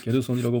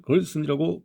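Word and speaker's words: Gerson: 막스 그걸 쓰는 일본에서는 막스 게르손이라고 부른다. 독일식으로 발음하는 것이다. 그러나 그는 이미 미국인으로 귀화하였으므로 우리들은 미국식으로 막스 걸슨이라고 부른다.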